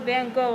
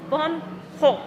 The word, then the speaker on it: Van Gogh: Gallery we don't really put a lot of Van go on anything because Mr Vincent didn't like to